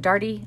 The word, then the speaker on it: Daugherty: Okay, but here's how you say it. Darty, like party. Party Darty. Darty likes to party. But it's D-A-U-G-H-E-R-T-Y.